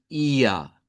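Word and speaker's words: ihr: Cuando estuvimos estudiando el tema de los pronombres vimos que IR en alemán estándar se pronuncia como IA.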